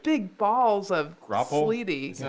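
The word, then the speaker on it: graupel: It wasn't actually snow because it was like big balls of Grapple? sleety. Is that how you pronounce Yeah. it? Grapple?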